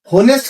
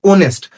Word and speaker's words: honest: तो ऑनेस्ट की जो प्रोनाउंसिएशन होती है ना बेटा, वो होनेस्ट करके बोलते हैं काफी सारे लोग, लेकिन इसकी प्रोनाउंसिएशन तो ओ से स्टार्ट होते हैं, ऑनेस्ट।